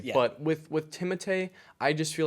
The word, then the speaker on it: Timothée: I know people say Timothy Chalamet, but he pronounces it Timothée. It actually, I think it is properly pronounced Timothée.